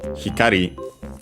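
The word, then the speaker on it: 光: continuative form, and so the corresponding noun, hikari, accented on the last syllable, also following the rules, and yeah, which means light.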